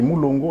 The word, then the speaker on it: Moulongo: Oui, Mounongo avec un N au milieu et Moulongo avec un L au milieu.